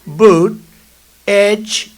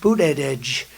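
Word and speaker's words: Buttigieg: And they said, Boot Edge, the word edge. That's the way it's pronounced, Boot Edge.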